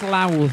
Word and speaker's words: Louth: So it's in I think it's Louth is how they say it, in Lincolnshire.